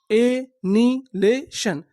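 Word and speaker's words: annihilation: एनिलेशन। एनिलेशन। एनिलेशन। एनिलेशन का मतलब होता है विनाश। यानी आप किसी चीज का विनाश कर देंगे तो उसे हम लोग क्या बोलेंगे? एनीेशन एच आई का उच्चारण नहीं करना।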